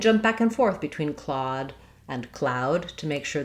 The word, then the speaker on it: Claude: I saw him using Claude, or I taught Claude. So looking at our aw vowel, this is also tricky. It's spelled a lot of different ways. It is AW like aw and saw.